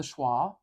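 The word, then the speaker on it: schwa: to use this one it's it's called the schah it's a special vowel so special it has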